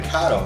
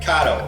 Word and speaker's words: Kato: a kid so we're going to try the kado stuff sometimes dad calls it kato so forgive me that's probably just because i'm from chicago and everything's hey oh hey so kato is how you pronounce the track so we